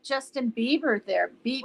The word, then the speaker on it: Bieber: Oh, I look like Justin Bieber there. You Is it do Beaver? not. I thought it was Beaver. It's Bieber, right? Is it Bieber?